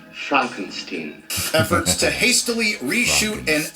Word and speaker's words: Frankenstein: Far too late, for example, Disney's Frankensteinian, it's pronounced Frankenstein, efforts to hastily reshoot and unmessage certain shows and movies like the aforementioned Snow White, Daredevil, and Captain African American.